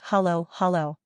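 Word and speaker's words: halo-halo: But first, can you teach me how to say Halo Halo correctly? I don't want to embarrass myself. Haha, no worries. It's pronounced hollow, hollow.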